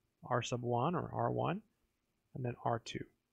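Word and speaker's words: R₁: r2, to solve for r1. It's actually pronounced r sub 1. I'm just saying r1 to save myself a word.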